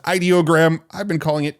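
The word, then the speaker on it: Ideogram: Side note, I just learned this week from Tim over at Theoretically Media that it's actually pronounced ideoggram. I've been calling it idoggram this whole time, but now I know it's ideog.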